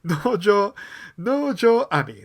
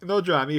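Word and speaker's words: 能條愛未: Nojo Ami. There we go. I said it right. Nojo Ami, who is an actress and also, more importantly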